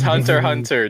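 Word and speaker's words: Hunter × Hunter: want to be cancelled because it's hunter hunter don't say the x that's like the taboo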